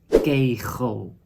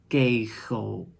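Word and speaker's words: kegel: the bowling alley that is called kejo but you can pronounce it also as gejo and the final example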